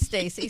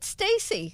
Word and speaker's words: Stasi: But he pronounced it Stacy. So I went to Calabria to find my family. Yeah. all said Stasi.